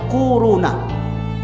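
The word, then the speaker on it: كورونا: Corona. Bacanya tuh kuruna.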